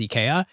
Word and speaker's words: IKEA: in Europe it was eeka the way you would pronounce it as a Swedish person is Ika and the ad campaign they decided Americans are just going to pronounce it Ikea so let's lean into